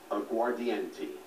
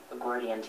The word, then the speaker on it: aguardiente: Aguardiente. Aguardiente, am I pronouncing it correctly?